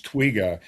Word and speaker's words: twiga: For you guys listening, the Swahili word for giraffe is twiga. It's spelled Twiga, which reminds me of twig.